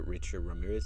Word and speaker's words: Richard Ramirez: They made a little documentary on Netflix of the killer Richard Ramirez.